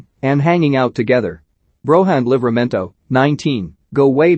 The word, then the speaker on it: Broja: Broja, pronounced Broja, was born in Slough, the home of David Brent about 20 miles west of London, along with his two sisters.